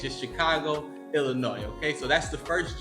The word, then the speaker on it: Illinois: over and say hey the S is silent okay it's just Chicago Illinois okay so that's the